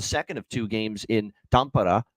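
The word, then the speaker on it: Tampere: of two games in tampara as it's pronounced over in Finland between Dallas and Florida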